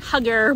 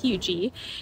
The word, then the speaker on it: Huger: definitely need to consider HUGER, South Carolina. Now, it's pronounced HUGER. It looks like HUGER or HUGER, but it's pronounced HUGER.